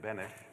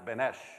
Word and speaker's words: Benesh: got my name right it is Bennett I've been at Pinellas Park for 17 years and they still can't get my name right they still pronounce it benesh and I tell them every single time what is that the French pronunciation but they still don't